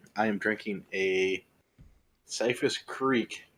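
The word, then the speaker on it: Kriek: am drinking a safest Creek in Creek is spelled kr iek sour sherry ale and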